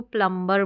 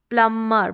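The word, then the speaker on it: plumber: हम इसको प्रोनाउंस करेंगे इस स्पेलिंग को हम बी को प्रोनाउंस नहीं करेंगे एम के बाद में जो है बी है प्लमर प्लमर यानी बी का साउंड नहीं आएगा प्लमर प्लमर तो इस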